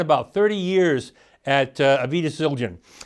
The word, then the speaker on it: Zildjian: Paul spent his career, he spent about 30 years at Avidus Zildjian. And or Avidus Zildjian, if I want to pronounce it correctly.